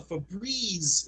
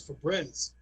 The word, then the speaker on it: Febreze: So if you have Febreze with an E at the end, that's what makes it sound a Febreze. If you take the E, that last E out, it's Febreze.